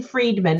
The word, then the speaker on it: Friedman: To jot in Jane Friedman, and it's spelled like fried man.